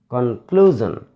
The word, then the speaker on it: conclusion: So we should stress on the second syllable. Conclusion. Con, first syllable. Clue, second syllable. Zan, third syllable.